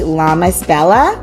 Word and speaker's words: Lamasbella: Internet her name is Yuri make sure I'm pronouncing it correctly llamas Bella yeah yeah perfect okay and if I I'm